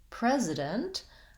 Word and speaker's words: president: and fast on it precedent precedent president i have the same stretched first syllable and i move to my z sound so here's where my prez my vowel duration is going to be a little longer that'll help you hear the difference between president and precedent and then i have